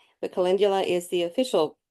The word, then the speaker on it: Calendula: to look at cingula some people call it kalandula but kalindula is the official U pronunciation there are at least 15 species of